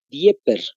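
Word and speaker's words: Dniéper: anótense el río niper hay una d de dedo seguido de una n n de niño dieper más o menos Sería más o menos la la pronunciación no debe estar en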